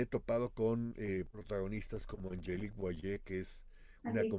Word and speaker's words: Angelique: sí, o sea, Angelique, que se pronuncia así su nombre, ¿no? Creo que lo estoy Es pronunciando mal. Angelique. Angelique, es francesa.